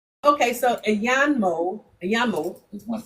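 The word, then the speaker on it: àyànmọ́: I a y a n m o I think. Yeah. Ayan. Yeah. The n is like it just let you know there's a syllable there.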